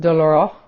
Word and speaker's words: douloureux: Tic douloureux, which is pronounced douloureux en français, which I actually speak